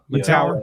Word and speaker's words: Mettauer: It's Mettauer or Mettauer. Mettauer. Right. Mettauer. Like you want to make tower, sure that he's going to have the, that dog in him, right?